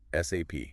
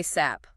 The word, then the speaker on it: SAP: And crucially, always spell it out. SAP. Don't say SAP.